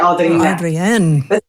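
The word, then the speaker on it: Adriné: It's a D R. Yeah. A D R I N E. And then there's like an accent on the E. So it's like Adrienne.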